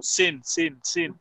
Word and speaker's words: seen: Yeah, so again, la pronunciación of sin es como sin. Más corta. Sí, el vocal está reducido.